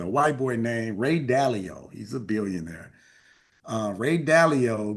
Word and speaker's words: Dalio: Dalio is how you pronounce it.